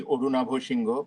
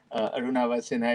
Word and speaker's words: Arunava Sinha: If you want to pronounce it the authentic Bengali way, then it would be Orunabho Shingo, but I'm going to spare you that. Arunava Sinha it is for most people around the world.